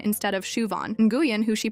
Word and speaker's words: Siobhan: There's Siobhan, who gets called Sioban instead of Shuvon. And Guuan, who she pronounces like New Jen instead of Win.